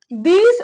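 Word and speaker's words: these: दीज और दोज का pronunciation, correct pronunciation दीज और दोज होता है।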